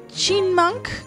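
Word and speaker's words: Chyinmunk: How do you pronounce chinmunk? I say chinmunk. The Y is silent.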